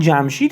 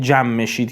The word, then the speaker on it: جمشید: they began a rebellion the term is "Jamshid" but read at "jamm-e-sheed" for the sake of rhythm "Bar ou teere shod